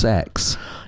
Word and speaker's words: CeX: to see cex Aylesbury apparently it's apparently it's pronounced sex yeah I don't like I don't like that